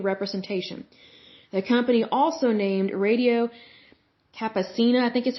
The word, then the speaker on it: Radio Campesina: The company also named Radio Campesina, I think is how you pronounce it, a project of the United Farm Workers Union founded by Cesar Chavez.